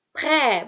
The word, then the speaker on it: prêt: Pre, bukan pret. Ingat T-nya, kenapa nggak dibaca? Di akhir kata.